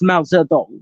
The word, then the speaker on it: Mao Zedong: Latin, which is where Mao Zedong comes from instead of Mao Zedong. It's Mao Zedong, which is the proper one.